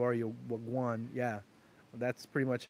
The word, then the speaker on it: wagwan: Wagwan?